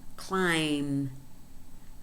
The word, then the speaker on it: climb: Climb, climb. Notice that in these two examples, the letter B is silent, and this is very common in MB combinations.